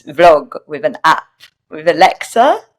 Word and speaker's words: Alexa: And somebody asked me to do this vlog with an app, with Alexa. Is it Alexia or Alexa? Because I was saying it wrong at the beginning because I'm not technical.